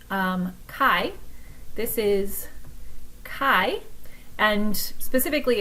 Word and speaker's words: chi: So this is pronounced "chi".